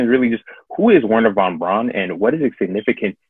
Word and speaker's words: Wernher von Braun: really just who is wernher von braun and what is it significant to space operation well uh benefit brown so to use the german pronunciation um was a german